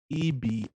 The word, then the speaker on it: Ebira: Spell it for me. Ebira.